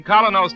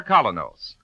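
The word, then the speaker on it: Kolynos: the air ladies and gentlemen colonos toothpaste presents Mr Keane Tracer of lost persons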